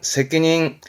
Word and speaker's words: 責任: 거죠 늘 그러듯 대표단어 볼까요 요게 책임이 되겠습니다 발음은 새끼 닝 새끼 닝 아주 많이 보죠 새끼 닝 그렇죠